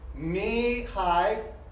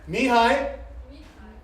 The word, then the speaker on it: Mihai: Кто-то знает, как это произносится? Имя? Yeah. He's a Hungarian biologist. Венгерский биолог Okay, ready? Mihai. Михай. Oh, but I'm doing it in English. Okay, Mihai. No, low. Try again. Mihai Михай.